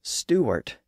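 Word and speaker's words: Stuart: arrived in Paris she found that most people pronounced her surname Stewart without the W sound in the middle so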